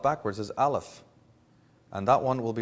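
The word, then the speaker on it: Aleph: of the Hebrew alphabet they pronounce their letter A Alf and it means breath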